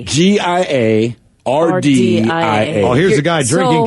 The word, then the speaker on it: Giardia: 9 out of 10 of us got Jarda. Is that how you say it? Jarda? Jaundice? No. Jarda? Google it. And believe me, everyone, Giardia.